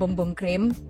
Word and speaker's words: Bum Bum Cream: Ini dari Sol de Janeiro, yang Brazilian Bum Bum Cream. Actually emang it pronounced Bum Bum Cream. Gue juga baru tahu. Ya, just discovered. Iya, karena biasanya orang kayak bum bum bam bam.